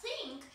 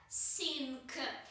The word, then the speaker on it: think: люди, изучающие английский язык, делают ошибку в произношении и произносят слово think как sink, потому что намного проще произнести звук с, а не th, потому что звучит он как-то по-русски. В русском языке звука th просто не существует.